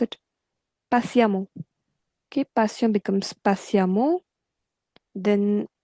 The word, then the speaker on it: patiemment: It's e n t ending, so we replace that e n t by a m m a n t. Patiemment. That's how we pronounce it. Patiemment.